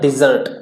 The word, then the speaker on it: dessert: अब देखिए यहाँ पर DESERT, इसको तो बोलते हैं desert प्रोनाउंसिएशन, बट अगर ये इस तरीके से होता है DESSERT, यहाँ पे S की जगह डबल S होता है, यानी SSERT होता, तो ये इसका प्रोनाउंसिएशन बनता है डिजर्ट।